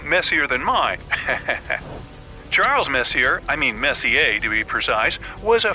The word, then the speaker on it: Messier: m43 well young lady the m stands for Messier pronounce Messier not Messier as in is your room messier than mine Charles Messier I mean Messier to be precise was a French astronomer in